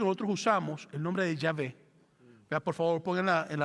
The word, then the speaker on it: Yahvé: La W en el hebreo se pronuncia como V. Entonces, por eso ponemos como Yahvé.